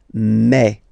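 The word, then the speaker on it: mes: aspect of it then remember that this a s here combined will give you the sound e okay so you'll pronounce it like me me me okay the so logical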